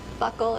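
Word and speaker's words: buccal: initials on this package Buckle is how I pronounce it let's go this is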